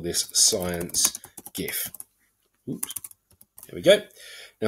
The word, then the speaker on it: GIF: Okay, so I've now got my first slide that is going to be part of my GIF or GIF. I'm a hard G person, some people not.